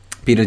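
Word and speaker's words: Piotr: name wrong I'm sorry it's spelled P I Oh TR but pronounced Peter so sorry Peter and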